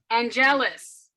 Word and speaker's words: Angelus: So Angelus, right? That's how you say it? Angelus, and she, huh? Just think of Anne, like ANNE, and then jealous. Angelus.